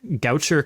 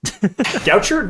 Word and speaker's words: Goucher: 2007 c 2009 also apologies in advance for that first college name I probably butchered it Goucher no you said Goucher right as far as I'm we okay cool cool cool cool we got it right then we know about